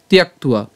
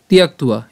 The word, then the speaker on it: ত্যক্ত্বা: ব, অন্তস্থ ব, তার উচ্চারণটা উয়ার মতো উচ্চারণ করছি, এবং তার সাথে আকার যখন যুক্ত হবে তখন তার উচ্চারণ হয়ে যাবে উয়া।